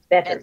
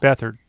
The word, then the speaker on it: Beathard: Is that how you pronounce his last name? Beathard, yeah. Beathard.